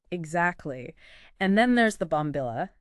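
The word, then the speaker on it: bombilla: of art almost exactly and then there's the bomil it's spelled b o m b i l a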